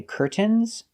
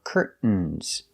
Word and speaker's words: curtains: have two correct pronunciations you can say curtains pronouncing the T or curtains making a stop T Curt and then fall to the N curtain curtains so the two pronunciations curtains or curtains curtains is the more common pronunciation in American English let's practice with these